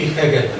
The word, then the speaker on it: Hegel: La H inicial en alemán es una especie de aspirada andaluz, Hölderlin y Hegel.